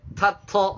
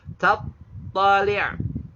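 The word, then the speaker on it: تطلع: Ta itu hamas, to itu jahr. Tattali'. Tattali'. Nah, itu kalau kita waqaf ya. Tattali'. Jadi ada ta hamas, to-nya jahr. Tattali' gitu.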